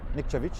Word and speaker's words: Nikcevich: We do have to say last year my pronunciation possibly wasn't as correct. It's Nikcevich indeed.